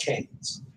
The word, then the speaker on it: Keynes: an economist by the name of John Maynard Keynes I know both had keys but he's English so it's pronounced chains like if you go to the I just